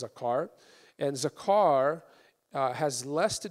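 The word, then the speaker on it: זכר: So this comes from a Hebrew word that's pronounced zakar.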